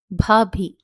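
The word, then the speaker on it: भाभी: The B sound here is aspirated. By aspiration, we mean that a puff of air is thrown out while pronouncing this letter.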